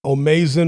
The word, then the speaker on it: O'Maison: dalton smith versus sam or mason or mason the commentators were using different pronunciations throughout the broadcast i'm gonna go with sam or mason so dalton smith from